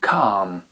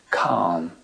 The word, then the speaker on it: calm: mais pas à l'oral ensuite ce l qui apparaît parfois à la fin des mots peut disparaître quand il est suivi par exemple de la lettre M comme dans le mot calm calm on dit pas calm mais calm quand c'est suivi de